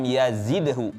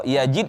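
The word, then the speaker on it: يزيد: man lam yajidhu tapi lam yazidhu zai bukan jim ya nanti beda artinya kalau yajid itu mendapatkan, yazid itu menambahkan ah jadi beda ya jadi bed harusnya pakai za hazaik tadi bacanya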